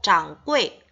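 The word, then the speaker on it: 掌柜: 자, 중국 발음으로 짱꼬이, 짱꼬이라고 하는데요.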